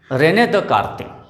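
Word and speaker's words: René Descartes: तो एक फ्रेंच mathematician या फिलोसोफर हुए हैं रेने दकार्ते। फ्रेंच लैंग्वेज में थोड़ा सा अलग स्पेलिंग बनती है और प्रोनाउंसिएशन अलग बनता है, तो उनका नाम था रेने दकार्ते।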